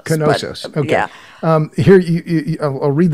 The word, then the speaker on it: Knossos: I think the K is pronounced Knossos. Knossos.